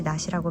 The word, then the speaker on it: 낯: 똑같이 낯이라고 발음되죠. 뜻은 The child is shy around strangers. The child is afraid of unfamiliar faces. 이런 뜻인데요. 여기서 아이가 가리는 것은 unfamiliar face이지 daytime이나 sickle이 아니겠죠? 그래서 낯이라고 발음 똑같이 되지만 우리는 치읓 받침을 가지고 있는 unfamiliar face를 뜻하는 낯을 쓰게 되어 있어요.